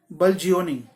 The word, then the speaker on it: bludgeoning: Word होता है BLUDGEON ING, BLUDGEON ING, इसको बोलेंगे बल्जियोनिंग, बल्जियोनिंग, ठीक है, बल्जियोनिंग, BLUDEGEONING।